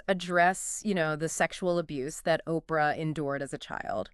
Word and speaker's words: Oprah: Oprah Uh-huh. isn't even her real name. What? Yeah, it's a mispronunciation of, get this, Orpah, O-R-P-A-H, Oh, wow.